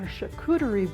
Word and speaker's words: charcuterie: Randee is going to tell us about something called a charcuterie board. Am I pronouncing that right? You are. It's a French word.